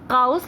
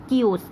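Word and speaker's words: chaos: देखिए इसकी स्पेलिंग जो है ना वो काओस लगती है, बट इसको हम प्रोनाउंस करते हैं कियोस, ठीक है।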